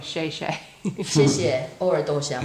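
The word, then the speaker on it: 谢谢: You said it wrong. You both said it wrong. I said it wrong. Say it again. 谢谢. 谢谢. Wow, very standard.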